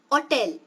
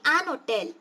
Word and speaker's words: hotel: Okay, now if I'm not stressing the first syllable, how do you pronounce this word? Hotel. Okay, hotel. So that time you say an hotel.